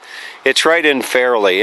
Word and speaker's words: Fairlie: It's right in Fairleigh, and that's kind of interesting how they pronounce that, because it's Americans would say Fairleigh, Fairlie, but for you it's Fairleigh. So it's fairly hot, fairly cold.